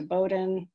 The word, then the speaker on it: Bowdoin: of netflix went to bowdoin i think a lot of people sometimes wonder how you say bowden the o is silent in bowdoin and the next